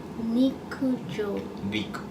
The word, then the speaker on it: 陸上: に陸上陸上陸上 it's like L sound like 陸上 D like R 陸上陸上陸上が好きです。